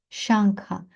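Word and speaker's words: शङ्ख: насправді ні далі шанкха шанкха наголосна а тому що тут у нас довгий звук та шанкха далі чакрасі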